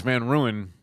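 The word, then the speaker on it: Van Rooyen: Julian says Van Ruin, and it's spelled Rooyen.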